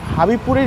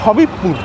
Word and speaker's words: হাবিবপুর: কখন ট্রেন রয়েছে চলো হাবিবপুরের ইসকন মন্দির থেকে তোমাদেরকে দেখাবোই আবার দেখো ভুল উচ্চারণ এটা কিন্তু তোমরা কখনোই করবে না কথাটা হচ্ছে হাবিবপুর নট হাবিবপুর হাবিবপুরের ইসকন মন্দির ছাড়াই